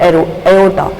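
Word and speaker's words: aorta: The largest artery in the human body is called एओर्टा, ठीक है। और देखिए जो हमारी जो बॉडी के अंदर जो सबसे लार्जेस्ट जो आर्टरी है वो कौन सी है? एओर्टा है, आर साइलेंट इसमें एओर्टा।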